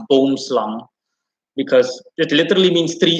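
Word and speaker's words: boomslang: boom is pronounced bone it's pronounced more flat like german bow means tree and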